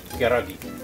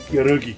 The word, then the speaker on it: pierogi: Pierogi. Pierogi. Pierogi. You got to say it like that.